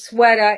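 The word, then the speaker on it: Swata: So there is an artist his IG handle is one sweater and that's spelled S W A T A. So it is Sweda.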